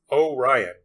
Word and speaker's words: Orion: was Sam's older brother Bo Ryan pronounced oh Ryan apparently and he kind of